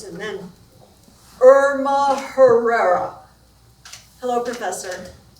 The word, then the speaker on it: Herrera: The professor called a few more names and then Irma Herrera. Hello, professor. It's pronounced era. In Spanish, the H is silent.